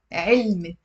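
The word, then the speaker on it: علّم: So there is a fatha on the ain and a shadda on the lam with a fatha.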